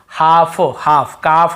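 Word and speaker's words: half: अब चलिए देखते हैं एफ से पहले लो वहां पर दी से पहले हो तो नहीं पढ़े यहां पर अप से पहले तो भी नहीं पढ़ते जैसे कफ कफ कफ हाफ हाफ ल को यहां पे नहीं पढ़ने कल्पहाल्ट नहीं पादना है कफ बछड़े को बोलते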